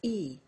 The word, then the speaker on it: he: He becomes E.